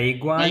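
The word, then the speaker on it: 没关系: याद रखिए मंसूर, ये मई नहीं, सेकंड टोन में मई, मई ग्वानसी, मई ग्वानसी। मई ग्वानशी। पूछे। ग्वान, ग्वान पे फर्स्ट टोन है, मई ग्वानसी।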